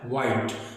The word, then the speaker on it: white: व्हाइट। तो यहां पर H साइलेंट है।